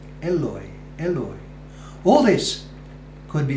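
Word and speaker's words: Eloi: Father Eloy Eloy now the taboo of Psalm 22 begins with Ellie Ellie as in the Hebrew it could be that Christ's pronunciation of Psalm 22 verse 1 carefully recorded by Mark is an instance of Christ's Galilean accent Eloy Eloy all this could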